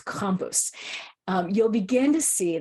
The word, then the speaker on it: Krampus: Krampus excuse me the Krampus I have an Austrian friend who is correcting my pronunciation it's compus um you'll begin to